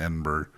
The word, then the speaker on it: Edinburgh: castle Edinburgh Castle Castle so this is the spelling is pretty strange cuz I would have said Edinburg that's how it's spelled that's how it's spelled and that's how it looks but that is not how they say it well have you've ever